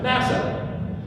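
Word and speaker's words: נשא: Interestingly enough, that's exactly what the word noon sheen aleph means, and it's pronounced NASA.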